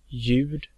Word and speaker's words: ljud: It's pronounced och. And lastly, we have the silent L. Ljus, ljud, ljuv, ljummen.